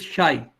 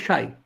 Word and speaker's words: psi: call it shy or psy doesn't really matter it depends on how bad your pronunciation is both ways the actual greek letter is almost unpronounceable by it's written c